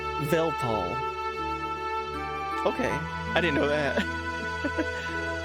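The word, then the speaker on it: Weltall: If you want to pronounce Well, right, it is German. So, the W is a V. So, Velpal.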